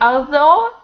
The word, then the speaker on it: although: Bots as Bots and although it's the same as snow even rough the same